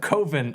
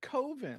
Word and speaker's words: Coven: Everyone calls it Coven. I know. It's Coven. I know. Everyone in this movie, no. Coven. Out of He's respect very for clear. Mark. You can't say coven; it rhymes with oven.